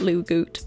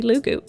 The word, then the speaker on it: Loogootee: hilariously pronounced lou goot obviously it's not lou goot but in my limited scope of knowledge that's the best i could come up with at the time so until the war has been fought over how to pronounce lugoot it's gonna be lugu um the other thing